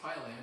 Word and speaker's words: Piland: and by the way I learned her name is pronounced pyland and not piland so on behalf of